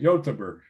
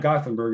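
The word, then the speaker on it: Göteborg: those swedish cities correctly so yotenberg right yotaburg it's not gothenburg it's youtuber i i learned i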